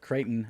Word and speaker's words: Creighton: up we've got uh and creighton i said cretin's not right cretin's like whatever i can't pronounce things dude i'm from arkansas we're like